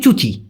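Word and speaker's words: cuci: একটা তো চুচি বললাম সি ইউ আই চুচি যেহেতু সিটাকে চ এর মত উচ্চারণ করে এজন্য হবে চুচি আরেকটা হল বসি বসিান মানে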